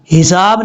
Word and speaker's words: الحساب: جلدی میں وہ پڑھ دیتے ہیں یوم یقوم الحساب، حساب نہیں پڑھنا، یہ دیکھیں لام کے بعد جو ہا ہے یہ ہا بریک ہے، اس کو بھاری ساؤنڈ کے ساتھ نہیں پڑھنا، کلیئر کر کے پڑھنا ہے، یوم یقوم الحساب،